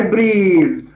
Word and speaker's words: breath: customs and the conventions of her Society I breathe here it is breathe not breathe there is